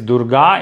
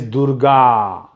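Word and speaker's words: दुर्गा: as durga understand this usually usually with female gender or female name of girls and women the ending is longer okay so durga because durga becomes something else durga means fort but if you want to call a woman whose name is durga it is durga okay same with sita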